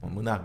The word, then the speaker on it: MNAC: MNAC 이 발음을 스페인 사람들은 문학 이러는데 결국 뮤지엄 내셔널 아츠 그리고 카탈루냐거든요. 국립 카탈루냐 박물관입니다.